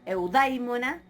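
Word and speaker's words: εὐδαίμων: Aparece el acento en eudaimon, ¿sí? Acá el acento puede llegar hasta, tiene todavía una sílaba más, así que eudaimon. Vamos ahora al acusativo, eudaimona.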